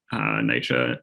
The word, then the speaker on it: NYCHA: every time i've ever heard it pronounced it's pronounced nycha so sorry i realized that i didn't explain